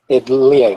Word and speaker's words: Liang: Is it Lang? Liang, but his first name is Jin.